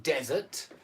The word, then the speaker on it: desert: desert with one S, and it's pronounced desert, meaning a place of sand and no water, the Sahara Desert, the Gobi Desert, the Kalahari Desert, or whatever.